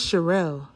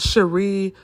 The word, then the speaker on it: Sherelle: My name is Sherelle. You know how many white people have butchered my name? Such a simple name. I get called Cherie, Sheree, Sherelle. Sometimes I just don't even respond.